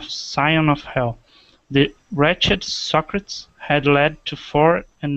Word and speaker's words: Socrates: I can't even remember, but the way it's pronounced is Socrates.